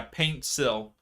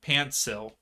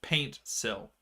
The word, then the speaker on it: Paintsil: said something different yeah paint sill yeah I keep saying like pantsil like p a n t not paint I I'm terrible with pronunciations but yes paint sill so out so throw